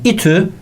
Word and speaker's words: İTÜ: yapılmıştır bakalım itü'nün Şehit İTÜ İstanbul Teknik Üniversitesi'nin kısaltılması bu kelime gibi okunuyor İTÜ ev ne demişti kelime